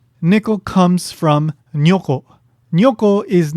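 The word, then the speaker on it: 如: In this case, it's pronounced nyo, but it can also be pronounced jo and goto ku or goto shi.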